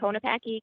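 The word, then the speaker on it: Konopacky: you so much Commissioners my name is konapaki k-o-n-o-p-a-c-k-y and the environmental attorney with the wider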